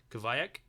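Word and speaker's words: Kiviuq: time nick is drinking what's called goviac i think that's how you pronounce it it's k-i-v-i-u-q and simply it's a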